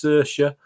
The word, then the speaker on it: Saoirse: I didn't have a clue, so it's Saoirse. Rhymes with inertia, I've been told. Saoirse Ronan, Emma Watson, Florence